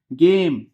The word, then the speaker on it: game: गेम।